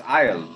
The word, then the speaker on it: Aal: It's Isle, but it's quite impossible to maintain a correct pronunciation.